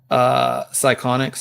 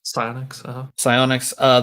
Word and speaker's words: Psyonix: I grabbed it at QuakeCon, and so last year, or was it this year, that Epic bought Psychonix? Is that how you say it? Or Psyonix? Psyonix, the maker of the game.